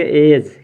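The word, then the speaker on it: edge: पर देखिए क्या है य डी हमारा साइलेंट हो जाएगा डी क्या हो जाएगा साइलेंट तो इसका उच्चारण कैसे करेंगे ई तो इसको पढ़ेंगे एज क्या पढ़ेंगे एज जज मींस क्या होता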